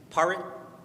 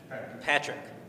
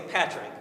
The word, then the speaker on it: Patrick: the paric Patrick now the internet says but we're going to say Patrick we're going to go with the US the US pronunciation but the Irish pronunciation is par. Okay. All right. So, but we're going to go with Patrick today. Whereas the Patrick Pierce division